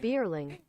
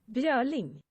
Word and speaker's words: Björling: Okay, this is how an English should pronounce this, according to Google. Bierling. Beautiful. And you said it was Swedish? Swedish. Björling.